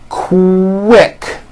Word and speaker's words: quick: that so for example the word quick is pronounced with a K and a strong W sound Co Rick like that